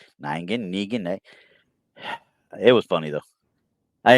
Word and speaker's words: Negan: Hey look it's a ningan ningan here let me help you pronounce it again ningin ningan Negan it was funny though